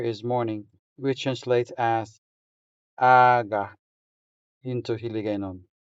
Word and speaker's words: aga: The stress falls on the first syllable. So, I'm going to write the stress mark on top of the first a. Here we go. So, we say aga. aga Notice that the stressed syllable sounds longer than the unstressed syllable. So, since a is our stressed syllable here, It sounds longer than the second a.